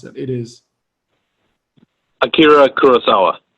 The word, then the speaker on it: Akira Kurosawa: I don't want to mispronounce it. It is Akira Kurosawa. Akira Kurosawa.